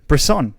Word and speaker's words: Bresson: Bresson.